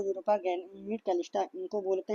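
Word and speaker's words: Callisto: लो, Europa, ये Ganymede है, और एक होता है कैलिस्टा, कैलिस्टा बोलते हैं। ठीक है, कैलिस्टा की स्पेलिंग क्या हो जाएगी? C A, कैलिस्टो बोलते हैं, कैलिस्टो।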